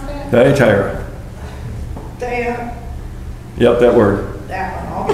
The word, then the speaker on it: Thyatira: How do you pronounce that? Thyatira.